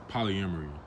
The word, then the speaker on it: polyamory: So, one thing I want to ask you is, you know, you are you have practiced polyamory.